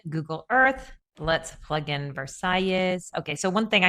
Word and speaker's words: Versalles: It's spelled with two L's, and the S is pronounced. So technically, it is Versailles. You will likely catch me saying Versailles just by accident, but